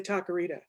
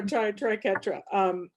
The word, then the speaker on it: triquetra: And then Mary went into the triquetra. Is that the correct pronunciation, Mary? I always want to say taquerita. It's in my head and I can't get it out. Please. I know. So triquetra.